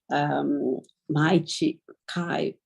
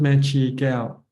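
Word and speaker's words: Mae Chee Kaew: I came across that book too, My Chikai. So it really inspired me because you read a lot about... It's pronounced Mechi Gao. Mechi Gao. Mechi Gao. Just to correct your it's pronunciation.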